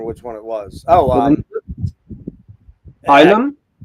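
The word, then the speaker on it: Ylem: Oh, Ilum? Yellum? We pronounce it Ilum.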